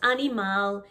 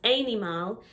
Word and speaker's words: animal: It is not animal, it's not animale, it's not animal, it is animal. Animal. Make sure you say the L sound at the end of the word.